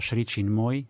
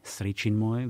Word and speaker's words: Sri Chinmoy: sekte alebo išlo eh šri čin môj sri čin môj vyslovuje sa to tak aj tak eh čo bol taký